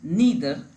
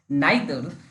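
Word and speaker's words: neither: Note, no, none, नीदर, या इसे कभी कभी लोग इसे प्रोनाउंस करते हैं इसको नाइदर, दोनों ठीक है।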